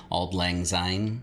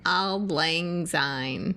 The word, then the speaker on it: Auld Lang Syne: How do you pronounce it? Auld Lang Syne. Auld Lang Syne.